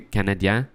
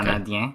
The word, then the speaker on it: Canadiens: The Canadiens? I think so, yeah. Okay. Canadiens.